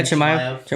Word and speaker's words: Chimaev: Yeah, Chimaev.